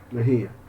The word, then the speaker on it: Mejía: Bueno, Mejía es con acento en la I, ¿verdad? Mejía.